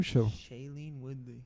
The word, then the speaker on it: Shailene Woodley: Shailene Woodley.